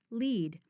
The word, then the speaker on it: lead: These hints help us determine that the lead here is pronounced lead, and the word is a verb that means to guide or be in front of.